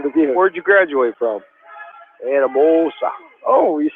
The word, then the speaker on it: Anamosa: Anamosa.